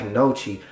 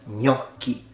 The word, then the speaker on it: gnocchi: this instead is pronounced gnocchi so GN once again is like the N with a little thing in Spanish and it's pronounced very